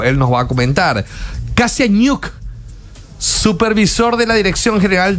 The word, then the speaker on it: Kasiañuk: ¿Pronuncié bien el apellido? Sí. Kasianyuk.